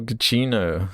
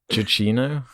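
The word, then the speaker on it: Giacchino: but the the michael gacchino so you say his name i've never known he says like chichino yeah i think i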